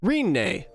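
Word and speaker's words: Rinne: Takahashi is wait Renee Renee that's how you say it because that that that right up there is the Katakana Greene Renee it's almost like my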